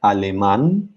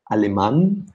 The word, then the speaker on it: alemán: German in Spanish, alemán, where we have the accent on the last A because it's a word ending in N. That doesn't have the stress on the second to last syllable, but on the last syllable.